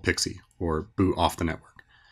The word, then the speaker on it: PXE: get into something called pixie booting or pxe all right so I made you a presentation I hope you like it about pxe pronounced pixie which stands for pre-boot